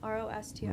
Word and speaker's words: Rostier: ROSTIER.